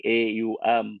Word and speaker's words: Om: Now you can see the power of Om, which is actually said as right? But we say it as, when you say it, it's like AUM, but when you say it that is how you say it, right?